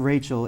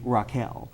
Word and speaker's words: Rachel: So I'm just going, okay, so that's the biblical pronunciation then, and then it's not Rachel, it's actually Raquel.